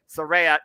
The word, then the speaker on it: Saraya: Saraya, keyword folks, is how you say her name.